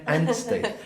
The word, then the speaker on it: Anstey: Kate, am I pronouncing that right? Kate Anstey. Anstey.